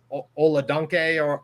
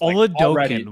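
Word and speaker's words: Oladokun: will say that Chris Oladunke or whatever his last name is, excuse me, is Oladokin was how I heard it pronounced.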